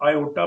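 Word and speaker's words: iota: English में इसको आई से डिनोट करते हैं, लेकिन ग्रीक में आई को आयोटा प्रोनाउंस करते हैं। तो इस वजह से हम लिख सकते हैं इसको -1 अंडर रूट को आयोटा लिख सकते हैं या आई लिख सकते हैं।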